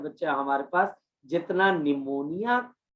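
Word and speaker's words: pneumonia: जब आप निमोनिया बोलते हो लिखते हो तो पी से लिखते हो, और जब आप बोलते हो तो पी क्या हो जाता है, साइलेंट।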